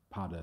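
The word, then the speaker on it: Peadar: my other co-founder padda whose name is pada so Irish p-e-a-d-a-r pada a prichiora is a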